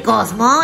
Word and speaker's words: Kaufmo: ¿No querrás decir Cosmo el payaso? No, Cosmo, así se llama. Se escribe Kaufmo, pero se pronuncia Cosmo.